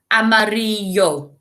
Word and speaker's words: amarillo: So we've got rojo, azul, amarillo, verde, and naranja. Remember, the J makes a sound. Rojo, naranja. The Z makes a sound. Azul. 2 L's make a Y sound, so y. Amarillo.